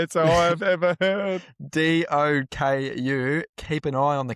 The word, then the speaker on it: Doku: Jeremy Doka. Proper Doku.